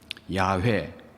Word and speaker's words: 야훼: 나는 스스로 있는 자다 야훼 또는 여호와로 발음합니다 구약 성경에는 여호와라고 하는이